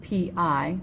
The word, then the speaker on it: pi: It's spelled P-I and it's said pi, but it's a symbol for an actual number that we use in math.